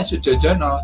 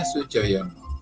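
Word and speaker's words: Sudjojono: Karena dia ditulis berada di era di atas tahun 40-an itu ya, 50-an gitu, maka namanya aslinya kan Sujoyono pakai DJO Sujojono. Kalau sekarang membacanya Sujojono, tetapi seharusnya Sujoyono.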